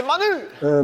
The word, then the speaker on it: Manus: euh bon en fait ça se prononce manos manus mais en tout cas